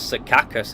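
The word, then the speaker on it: Secaucus: Okay, so I guess it's Sakus how it's pronounced.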